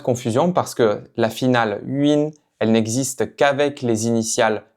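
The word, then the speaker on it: 云: Donc maintenant, on va s'entraîner à prononcer cette finale, donc avec le caractère UIN, UIN, donc ici deuxième ton, UIN, donc c'est le caractère qui représente un nuage.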